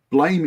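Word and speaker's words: Blame!: me too me too blame as well I like that and biomega um which I I just found out speaking of things that we can't pronounce blame is apparently supposed to be pronounced blam I was I I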